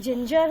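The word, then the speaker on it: Zingile: इसको जिंज की तरह हम लोग, जस्ट लाइक जिंजर हम लोग बोलते हैं ना, जिंजर, उसी तरीके से इसको प्रोनाउंस कर सकते हैं, जिंज।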